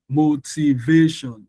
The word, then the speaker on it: motivation: So when you say motivation, motivation. So we're going to stress the va.